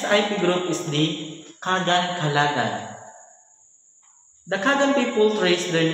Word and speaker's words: Kalagan: sunlight touches eastern mindana this evolved into kaalagan and later kalagan the spanish colonizers mispronounce it as kagan despite differences in religion